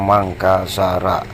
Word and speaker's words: Mangkasara: terus Hai saja Ra jadi bate di buruknya makassara tapi kita baca mangkasara terkenal dengan Lentera memang begitu cara bacanya harus disambung begitu kalau bahasa Inggrisnya diluruskan